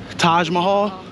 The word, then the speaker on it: Taj Mahal: up this hill right by the how you pronounce that time Mahal Taj Mahal yeah the Taj Mahal restaurant so give me